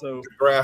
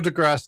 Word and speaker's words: deGrasse: I've never heard ever heard it called Degrass. That's true. That's true. No, but Neil deGrasse Tyson, I think, is how it's pronounced with I will say with a high degree of confidence.